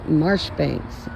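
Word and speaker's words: Marjoribanks: all right Major John Major Banks pronounced marshbanks okay glad they told me that lot a battalion of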